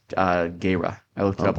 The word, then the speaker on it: Gera: Gira or Jira. Yep. And he was Actually, from. it's pronounced Gera. I looked it Oh, up one time. It's Gera.